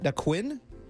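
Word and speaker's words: Naquin: Correct me if I'm saying his last name wrong. Nick Nquinn. Tyler Nikquin.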